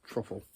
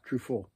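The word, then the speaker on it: Truffaut: Pocket Money by France Truffle. Francois Trufo. Yeah, that's better pronunciation.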